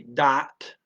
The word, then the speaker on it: dat: Again, they don't have a th, and the is a standard European pronunciation of an a ah. So instead of that, it comes out dot dot. Change the th to a d dot.